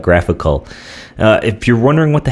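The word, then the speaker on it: GraphiQL: South 3000 forward slash graph I QL pronounced graphical right you'll see we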